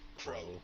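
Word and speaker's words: Qrow: Uh, just like crow, the bird pro. Just the regular bird, C R O W, but replace C with a Q. It pronounces just the same.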